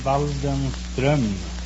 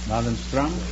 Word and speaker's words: Waldenström: No, it's an umlaut on the O. In Sweden, you pronounce the name Waldenström. Waldenstrom?